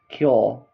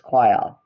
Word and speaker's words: choir: Tim uh monkey Tim welcomes some animals for the auditions for the amazing Amazon rainforest cure ch like I absolutely love that. I'm sorry I keep like forgetting how to pronounce that.